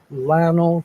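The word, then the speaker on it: Llano: station here in uh Lano Texas now some people say loo and I've said it some people say Lano and there is actually a third pronunciation of it and it's yo or Y so it makes what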